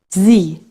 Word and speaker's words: Sie: If S is followed by a vowel, you pronounce it like the Z in the word lazy. Sie.